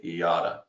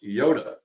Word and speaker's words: Yotta: we get asked is how do you say iata and right here a lot of people call us Yoda uh which is you